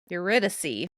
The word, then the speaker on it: Eurydice: How do you pronounce it? Eurydice. Oh. I didn't say it as pretty as what I heard, but Eurydice.